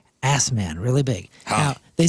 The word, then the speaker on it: Assman: got this nice Mountain picture and it says asman really big now they said it's pronounced Osman they're bison farmers and they make bison jerky